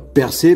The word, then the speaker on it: Perses: Alors, Percé, Persise, Perse, hein, on sait pas trop comment le prononcer, enfin on fait ce qu'on veut. Ça s'écrit P-E-R-S-E-S. Donc on pourrait dire l'Empire Perse, comme la célèbre civilisation. Ou Percé, comme le héros grec, fils de Zeus, quoi. À vous de choisir.